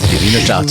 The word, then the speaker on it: Wiener Staatsoper: Wiener Staatsoper. What? In Vienna. That's the opera. Yeah. I pronounced it right? You did. Wiener Staatsoper.